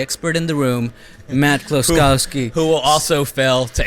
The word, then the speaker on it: Kloskowski: Austin the amazing author the Photoshop guy Matt close Kowski I just hope I pronounced your name right did I you did